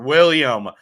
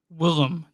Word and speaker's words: Willem: William Dafoe. Willem Dafoe.